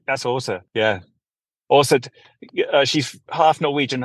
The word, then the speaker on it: Åsa: That's Åsa. Yeah, Åsa. She's half Norwegian and half Swedish, and her name is spelled ASE, and it's got like one of those little round things on top of the A.